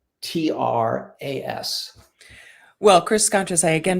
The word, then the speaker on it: Scontras: Yeah, that's a great question, because it's spelt many different ways depending on where you are in the country. But it's Scontras.